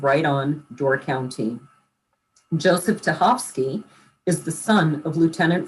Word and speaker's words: Tachovsky: Well, Cynthia Kraack is one of our guests, and Joseph Tachovsky, I pronounced that right, didn't I? Correct.